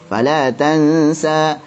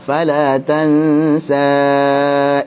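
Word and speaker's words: فلا تنسى: Nah, kalau waqaf antum bacanya 2 harakat saja, mad tabi'i biasa. Fala tansa. Tadi kalau wasal baru panjangkan sebagai mad jaiz munfasil. Fala tansa illa ma syaa Allah.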